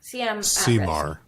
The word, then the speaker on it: CMAR: So CMR, CMAR is how that's how the Americans say it.